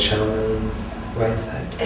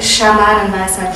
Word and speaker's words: Schamanenweisheit: I don't know how you say it, Shaman's Weisheit. Schamanenweisheit. Yes.